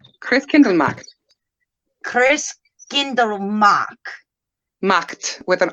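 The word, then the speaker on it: Christkindlmarkt: I should roll my R, but I'm bad about rolling R's. Sorry, guys. Christkindlmacht. Yeah. Skip. I mean, you could say marked, really, but they don't pronounce their A's like that. It would be a macht.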